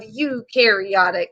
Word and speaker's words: eukaryotic: eukaryotic cells like eat it's spelled e u but i say it sounds like y o u right u y o u are made up of eukaryotic cells i'm gonna put